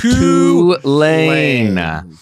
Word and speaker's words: Tulane: You did mispronounce Tulane, by the way, and I got a bunch of messages about that. It's Tulane. Tulane.